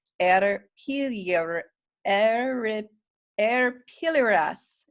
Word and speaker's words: arpilleras: try to pronounce it the two L's make a you sound so it's a dirty your air it air pillar s a pillar s I think it's how